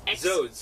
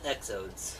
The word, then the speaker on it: Xodes: He usually goes by Zodes. Zodes. X-O-D-E-S. So if you want to look for him, he goes by Zodes. So we're gonna. And it's not pronounced Exodes.